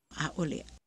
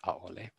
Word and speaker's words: ʻaʻole: after them, is that when there's no word following it, especially for Lillian Victor, it's more likely to have an o pronunciation. So for instance, we have a-ole versus a-ale vau. So you hear there's a word after it, vau, so it becomes a-ale and it's not a-ole.